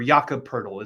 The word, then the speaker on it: Jakob Poeltl: Either of those two names, AD or Daniel Gafford, would be an upgrade over Jakob Poeltl, or Jakob Poeltl is the proper way to say that.